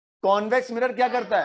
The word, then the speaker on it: convex: लिख दिया था कि वो नहीं है कॉन्वैक्स, इट इज कॉन्वेक्स। ठीक है, समझ में आ गई बात। ये कौन सा है, ये क्या है, कॉनकेव मिरर क्या करता है, कॉन्वेक्स मिरर क्या करता है।